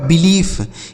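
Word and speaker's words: belief: तो आप हमें बताइए आगे बी ई एल आई ई एफ ई तो बी ई से हो गया दोस्तों बी एल से हो गया ल आई और ई का उच्चारण बड़ी ई की मात्रा एफ से हो गया फ यह लिखा गया आपका बिलीफ क्या लिखा है मेरे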